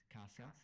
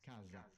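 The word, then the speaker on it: casa: Italy we know that in the south of Italy we pronounce it kasa whereas in the north of Italy it's pronounced kaza now I believe in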